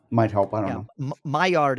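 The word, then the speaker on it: Maillard: help i don't know my yard is it's french it's spelled m-a-i-l-l-a-r-d well the only thing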